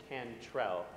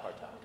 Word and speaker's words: Cantrell: It's Cantrell, not Cartel.